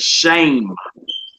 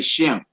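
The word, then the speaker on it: שם: The word for name, should I say, is masculine, and the word there is shame. Shame. Some say Shem.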